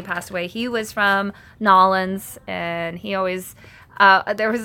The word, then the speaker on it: New Orleans: I tell you anything, you have to say it right, it's Nolens.